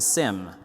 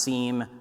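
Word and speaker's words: SIEM: Moz stuff is a sim and if you never if you don't know what sim is it's security information event management personally I think it should be pronounced seam but let's not go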